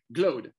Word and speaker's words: Glode: Glode. Glode. David Glode. Yeah. Deal. So like your word in English, rode. I rode the horse.